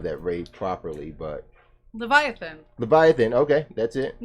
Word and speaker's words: Leviathan: We still have not pronounced that name of that raid properly, but... Leviathan. Leviathan, okay, that's it.